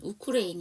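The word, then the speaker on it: Ukraine: 했어요 뭘 은원을 했냐 우크레인 우리는 우크라이나 하는데 영어식 발음은 우크레인 이죠 그 우크라인카 시큐리티 보안이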